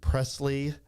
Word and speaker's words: Preslie: We're with Preslie and Raeleigh, right?